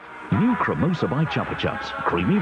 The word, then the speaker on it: Chupa Chups: However, this is one of those cases where the company itself has run with the natural British tendency to pronounce things the way we think they're going to be pronounced.